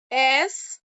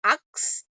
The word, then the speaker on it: ask: Ask. Ask. Many people pronounce it as ux, but it's not ux, it's ask.